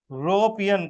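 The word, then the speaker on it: European: किससे आ रहा है? यू यूरोपियन country.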